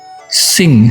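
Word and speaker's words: 辛: Sing, singfu ya, mujur, syukur. Kalau singfu itu kan bahagia. Nah, kalau yang artinya ndak enak ini adalah sin ya. Sin tanpa g ya. Bacanya sin, misalnya sinku ya, menderita.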